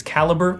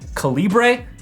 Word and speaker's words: Calibre: And for those curious, the title font we use is National, and the caption font is Calibre or Calibre. I've heard it pronounced different ways.